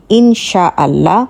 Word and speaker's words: ইনশাআল্লাহ: ভুলভাবে লেখা হয়ে থাকে সঠিক উচ্চারণ হবে ইনশাআল্লাহ এবং আপনারা স্ক্রিনে দেখতে